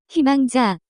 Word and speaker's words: 희망자: The pronunciation of this word is closer to 희망자, examples.